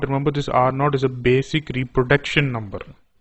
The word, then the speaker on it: R naught: or the news channels they say it is r0 it is ro remember it is not R 0 or R oh it is pronounced as are not know I'm sure that